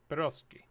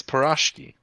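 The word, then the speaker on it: pirozhki: Pyroski. You're wrong. It's Pirashki, Pirashki. according to Google. Okay. So that must be Parashko. Makes sense to me. Parashko. Pirashko. I can even listen to it in slow. Pirashki.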